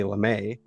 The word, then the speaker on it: LeMay: And it's spelled lame, but there's an accent on the E.